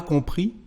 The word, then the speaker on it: compris: Je n'ai pas compris ce que vous venez de dire. I did not understand what you've just said. Compris, so we don't pronounce the final S.